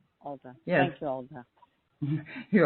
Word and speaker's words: Oltea: Oltea. Olta.